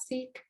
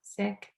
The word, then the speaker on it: Sikh: hear it pronounced as seek um the correct way to pronounce it is sick and in my own life i've had many funny stories where i've told someone that like hey i'm sick and they take it